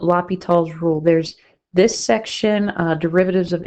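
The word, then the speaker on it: L'Hôpital: It has been known and is common to see an S there, so if you're thinking this sounds a lot like hospital, yes, you might see it spelled like that, but it's French.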